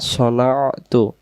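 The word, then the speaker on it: صنعت: দিয়েছি মিনশারিমা সনাতুয মা সনাতু এযেটা আইনের মত মনে করে নিবেন মিনশারিমা সনাতু সনা আইনটা খেয়াল করবেন মা সনাতু আবার দি কামাসতাতু আউজুবিকা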